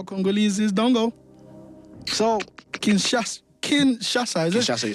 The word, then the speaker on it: Kinshasa: So Kinshasa, is it?